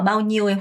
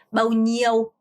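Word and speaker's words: bao nhiêu: 자, 머이라는 표현은 우리 몇이라는 표현이고 마우니오 여러분 이거 발음하실 때 니, 에, 우로 발음하시면 안 돼요. NH는 냐 이렇게 혀를 이렇게 쓸어야죠. 여기 천장을 좀 쓸어야 돼요. 니오, 마우니오 평성 마우니오 아니고 마우니오 이렇게 발음하셔야 돼요.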